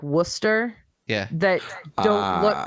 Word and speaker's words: Worcester: New England names like Worcester. Yeah. That don't look. It looks like it's Worcester, but you don't say it Worcester. You say it Worcester.